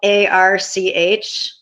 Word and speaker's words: Arch: So the ARC mission. It's spelled ARCH. ARC mission.